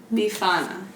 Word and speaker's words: Befana: lies a woman named Befana oh this I see oh no no no I did look up the it's Bafana Bafana be fun if you say it in Italian it's all about its parmesan or is young mr.